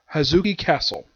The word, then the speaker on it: Hozuki Castle: How you pronounce the name of this place? It is Hozuki Castle.